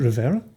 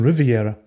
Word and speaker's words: Rivera: it Rivera Rivera yeah you're saying Riviera I said Rivera you said Riviera three times you said Riviera don't know what's happening right now but if you could pronounce it correctly we'll continue all right